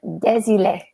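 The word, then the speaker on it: Désilets: I actually pronounced the T. Ah, yeah. It's a French name. So they often have silent words or silent vowels and consonants.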